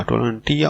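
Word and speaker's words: tolerantia: टॉलरेंटिया, टॉलरेंटिया उसको pronounce Latin में इस तरह करते हैं, विच मीन एडोंस, एडोंस का मतलब है बर्दाश्त।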